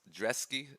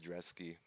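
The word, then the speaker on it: Brzeski: moving on we have Lucas dreesky somehow pronounced zresky uh two fights in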